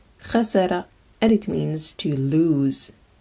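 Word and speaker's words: خسر: Finally, this word is pronounced khasara, khasara, and it means to lose.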